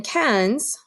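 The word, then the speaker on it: quinze: is me going quatorze get source and then cans is spelled like this q UI n Z e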